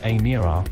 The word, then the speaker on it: Emira: The Emira, pronounced Emira, will eventually be priced from £59,995 and is